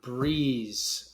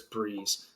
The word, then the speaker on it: BREZ: Today I'm breaking down Breeze. Um, pretty sure that's how you pronounce it. I was mispronouncing it. Um, I was calling it brez, but pretty sure it's Breeze.